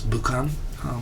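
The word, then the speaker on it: 武漢: Of course, Wuhan, that everyone's been saying in English, is of course Bukan in Japanese, and that's how it's known.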